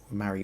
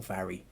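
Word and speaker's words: Mhairi: and marry yeah okay marry or vary depending on um it's spelled m-h-a-i-r-i some some use vary some say marry um a little bit depends on who's who so but yes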